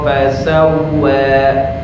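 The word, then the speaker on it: فسوى: Fasawwa, cukup, jangan fasawwa, karena ini hukumnya matobi.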